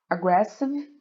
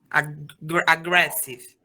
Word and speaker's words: aggressive: Que tem que, a entonação é no, eu não sei a entonação, mas eles falam aggressive e E também só, deixa eu confirmar. A sílaba tônica, né? E também Aggressive.